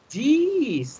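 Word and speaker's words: dix: do you say 10 you see jeez that's right you see it written underneath d double e s you see that tina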